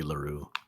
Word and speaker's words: Leroux: The X is silent, so it'd be Leroux.